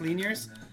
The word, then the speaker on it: Lanier's: did you guys get Lanier's Rangers with which is pronounced Linear's I didn't even know